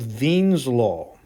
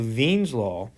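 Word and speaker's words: Wien's law: a German guy and in German the W's are pronounced like English V's so this is actually called Vines law and it tells us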